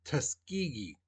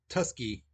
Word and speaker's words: Tuskegee: in three two one now the way you pronounce that word that you know it's Tuskegee okay it's not tusky okay that's some students said today and in